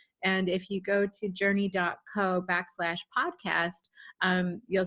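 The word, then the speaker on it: JRNI: like yeah thank you my company is called journey it's spelled jrn I because the band don't stop believin has all the trademarks cornered on the so J are ni is journey and we're a journey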